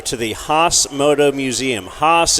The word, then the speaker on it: Haas: the hos Moto Museum hos is spelled h a a s that's weird a legendary racing two